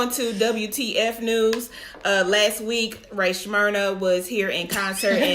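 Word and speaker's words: Rae Sremmurd: Ray Shrimmered. Shrimmer. Like drummers backwards. That's what it's Shrimmered. eardrum. Oh, is that what it is? Drummers backwards. Ear drummers.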